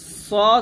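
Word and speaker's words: ص: বলছি সিন জের শেদ সদ এবং সিনটা একটু খেয়াল করুন সদ হবে মোটা সিন হবে পাতলা জিব্বাটা নিচে দাঁতে লাগবে তবে সদর বলতে হবে মোটা করে সদর আর এটা হবে সিন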